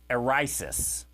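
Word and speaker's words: αἵρεσις: Erisis is the word. We typically pronounce the H. It wasn't in that particular Greek word.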